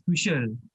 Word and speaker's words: Tuchel: So hari ni kita bawakan khas untuk cerita pasal era baru Chelsea bersama Thomas Tuchel. Tuchel or Tuchel guys? Macam mana nak pronounce ni?